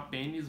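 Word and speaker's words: Penneys: que eu comprei nessa pênis e sim chama pênis mas não se escreve pênis se escreve peneis tá enfim ah mas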